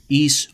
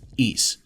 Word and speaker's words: Ys: one of the longest running franchises in gaming, East Origin. Yes, that is how it's pronounced. East.